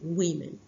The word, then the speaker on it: women: así se leemen sí lo único que cambia es una vocal pero la pronunciamos de distinta manera wimen OK Y así sucesivamente